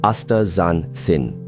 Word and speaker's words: astaxanthin: It's called astaxanthin, pronounced astaxanthin.